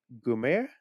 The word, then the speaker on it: Guillaume: Gume, yeah, it's Gume, Yeah. yeah. It's like, yeah, I looked the pronunciation that is.